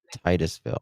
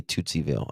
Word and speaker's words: Titusville: Titusville. Titusville. I always want to say Tootsieville.